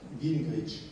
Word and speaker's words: Gingrich: c'est celui de Newt Gingrich. Newt, N-E-W-T, Gingrich, comme ça se prononce, c'est-à-dire G-R-I-C-H.